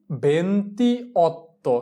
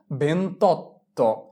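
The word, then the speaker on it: ventotto: যোগ অত্য এখানে দেখো ভন্তি এর সর্বশেষ অক্ষর ভোকালে এবং অত এর প্রথম অক্ষর ভোকালে যদি দুইটা ভোকালে পাশাপাশি মিলে তাহলে কি হবে প্রথম ভোকালেটা চলে যাবে তাহলে কি আসে বেন্তত বেন্তত ভি এন এ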